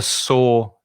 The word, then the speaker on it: sore: you could get a sore throat. SORE. It's the same pronunciation as the past of to see. I can see you. Past of see is sore.